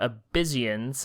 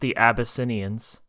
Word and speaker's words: The Abyssinians: have and oh God absans I think is how you say that it's pronounced the abyssinians I'm so sorry yeah